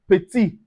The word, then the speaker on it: petit: Also we have petit.